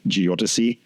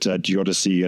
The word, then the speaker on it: geodesy: Also, thank you for telling me the precise pronunciation of geodesy. As someone who sees these words more than says them, it's always hard to put the emphasis on the right syllable, and geodesy or geodesic.